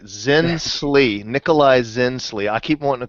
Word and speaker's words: Zinsli: We got to make sure we pronounce his name right. Zinsli, Nikolai Zinsli.